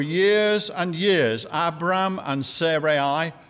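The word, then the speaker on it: Sarai: and years abraham and serei or sara e as some people pronounce it they held on in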